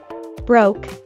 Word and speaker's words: broke: to have no money don't forget the ending sound broke broke and by saying that